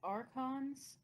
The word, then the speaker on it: archons: Yes, archons, which is how you actually pronounce it, but not how it looks in a book, they were essentially like the prime ministers of Tevinter.